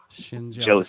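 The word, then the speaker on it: Schendzielos: name correctly uh Nick shind desil I hope I pronounce that right probably yeah you PR you pronounce it like shin on your leg and jealous Shin jealous jealousy Shin jealous but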